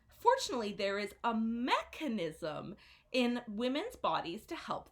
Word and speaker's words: mechanism: a hard case ound mechanism so the stress is on the first syllable so it is mechanism so you can repeat after me mechanism okay can we see